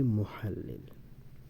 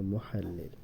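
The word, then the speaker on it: مُحَلِّل: মুহাল্লিল আমি আবারো বলছি মুহাল্লিল এখানে ইংরেজিতে লেখা হয়েছে দালিল আসলে এটা একটু ভুল হয়েছে উচ্চারণটা এটা হবে মুহাল্লিল আমরা বাক্য যেটা মনে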